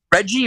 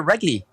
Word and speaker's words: Reggie: anything any dutch names is your name reggie or wrigley it's reggie what roger and that's that's